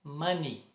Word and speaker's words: money: de português se pronuncia errado como money essa pronúncia correta é mani mani o erro no final das palavras são pronunciadas como i.a.